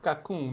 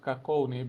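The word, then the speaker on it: Kakoune: learned that it's pronounced kakon not kakon because apparently it's based on a on a word from a dialect and its root is ultimately French so you pronounce it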